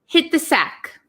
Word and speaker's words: hit the sack: So if you notice, there is a T here and followed by a TH. So when we pronounce it really quickly, hit the sack. We don't really say hit the sack. Hit the sack, hit the sack. So this T almost becomes silent and it links with this TH.